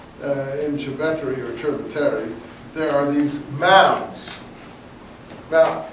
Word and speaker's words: Cerveteri: Anyway, C-E in Italian is ch. It's not s. In case you are wondering why you say ch. In Civeteri or Cerveteri, there are these mounds.